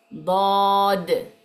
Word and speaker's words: ض: s grave y termina con una d muy pronunciada s Okay y después la otra que tenemos es dod dod Okay es una d grave y termina